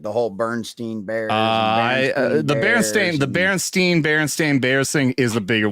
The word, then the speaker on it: Berenstain: Berenstain? AI? Berenstain. Yeah. Berenstain Bears. I always thought it was Berenstein, but I was a